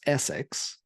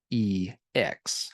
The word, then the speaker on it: Essex: When you look at it, you kind of want to pronounce it as Essex, but I kind of doubt they named themselves after a city or county in Britain. It's probably meant to be pronounced Sex, ha ha ha, or called sex in kind of a weird way.